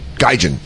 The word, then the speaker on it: Gaijin: Gaijin is how you say it.